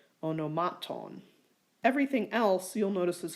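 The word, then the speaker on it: ὀνομάτων: So the only one that applies to is onomaton. That's the only long ultima. That means the acute is on the penult, onomaton.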